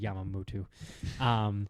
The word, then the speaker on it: Yamamoto: I pronounced it's Yamamoto. I said Yamamoto.